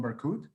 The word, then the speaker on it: Berkhout: meeting and hosting barcode am i pronouncing your surname correctly wrong absolutely perfect uh romero good um